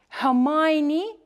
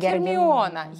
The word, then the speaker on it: Hermione: Hermione Granger. This is a very interesting because usually people pronounce her like Hermione, yes? And this is actually not correct because British people say Hermione.